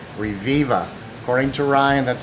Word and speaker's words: Reviva: Company called, and I'm thinking this is how you say it, Reviva.